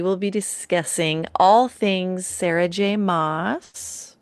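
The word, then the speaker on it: Sarah J. Maas: For today's book banter, we will be discussing all things Sarah J. Moss. We looked it up how to pronounce it because we were like mass or moss.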